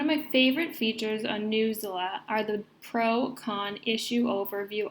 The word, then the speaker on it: Newsela: Part 2 of today's workshop will focus on News ELA, pronounced Newsela.